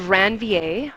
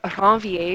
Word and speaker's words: Ranvier: It's called a node of Ranvier, or Ranvier if you're going to actually say it properly.